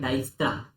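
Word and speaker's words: Dijkstra: ये होता है डाइक्स्ट्रा, डाइक्स्ट्रा, डाइक्स्ट्रा। ठीक है, प्रोनाउंसिएशन जरूरी है, कहीं बोलोगे तो ऐसा अजीब सा लगता है।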